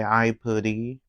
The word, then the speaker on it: Aipri: And by the way, even though it's spelled Aipri, I say Aipuri because that's the way you say it in Japanese.